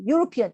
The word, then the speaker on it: European: 같은 원리로 European, 유럽 사람 한 사람일 때도 European, E로 시작하지만 발음이 실제로 Euro, 요 소리 나오잖아요.